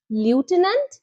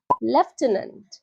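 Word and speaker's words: lieutenant: kernel ঠিক একই রকমভাবে এই ওয়ার্ডটিকে কি বলবে লিউটেনেন্ট না এটাও কিন্তু ভুল উচ্চারণ সঠিক হবে লেফটেনন্ট লেফটেনন্ট বুধবার সপ্তাহের একটা দিন একে ইংলিশে কি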